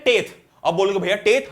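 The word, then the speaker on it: tithe: तो पहला टैक्स कौन सा होता है, इसको हम बोलते हैं टेथ। अब बोलोगे भैया टेथ, हाँ तो भाई इसको प्रोनाउंसिएशन एक्चुअली टेथ करते हैं, पर तुम टिथे याद रखो।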